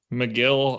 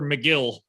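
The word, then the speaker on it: Megill: meagle yeah i guess mcgill i don't know it's like they ch it's like they changed both letters that were normal to me instead of him being tyler mcgill he's like ty lor meagil and i have to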